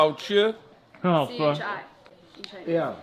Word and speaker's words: 吃: CHI. In Chinese. Yeah. Chi. Well, we would just say chi.